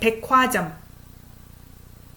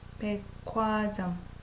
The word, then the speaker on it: 백화점: 백화점. So G as a 받침, like last consonant, and H as the first consonant in the second syllable. When they're combined together, it sounds K.